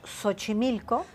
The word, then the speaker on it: Xochimilco: Sin embargo, teníamos Xochimilco, que es SH, pero es la X. Es la X, pero lo pronunciamos como SH, o sea.